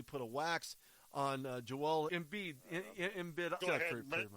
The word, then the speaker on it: Embiid: They basically put a wax on Joel Embiid. Go ahead, pronounce it all day long anyway. Embiid rhymes with indeed, but they didn't get it done.